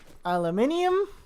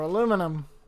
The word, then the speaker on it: aluminium: fighting the American and the Scottish aluminium or aluminum cuz like aluminium it's like it's how it's spelled but same with aluminum yep I think the